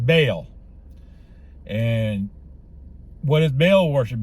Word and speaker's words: Baal: And that was well, they were saying the name Ball and it's not pronounced Ball. I was always told it was pronounced Baal.